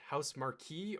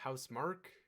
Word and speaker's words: Housemark: Returnal, which is from, is it pronounced House Marquee or House Mark? I think it's Housemark. Okay, I always call it Marquee, just because of the way it's spelled, but I've heard it pronounced as Housemark.